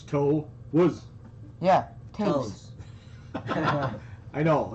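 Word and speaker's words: Toews: one like freaking boom it's actually jonathan toes how is it toes spell it t-o-e-w-s so it's toe was yeah i know it's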